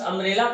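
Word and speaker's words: umbrella: लेकिन यहां पर अम्ब्रेला में यू हमारा वावेल है, और वावेल के साथ साथ जब इस अम्ब्रेला का हम प्रोनाउंसिएशन करेंगे अम्ब्रेला, तो यू की आवाज भी स्वर मिलती है।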